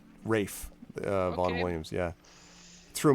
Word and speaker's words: Ralph: williams the composer actually spelled his first name ralph but it's pronounced rafe uh vaughn williams yeah